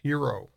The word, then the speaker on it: HXRO: coin flex and H X ro which is pronounced hero okay so these are a couple of new